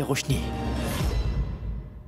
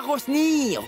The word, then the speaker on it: Roshni: Elle ne s'appelle pas Rosny. Roshni, ça ne va pas bien dans votre tête.